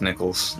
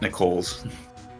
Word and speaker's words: Nichols: assistant we talked to I think it's still pronounced Nichols not Nick not Nicole's yeah it's Nichols because her name is